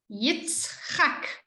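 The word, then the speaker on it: יצחק: Exactly the same with number 10, Yitzchak. Just ending the syllable. It's not saying Yitzchak, it's Yitzchak.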